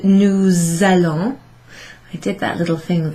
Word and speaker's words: nous allons: an A, and what I need you to do, therefore, is to pronounce that S. It's sort of, it sounds a bit like a Z actually. Nous allons. It's almost like that's one word together.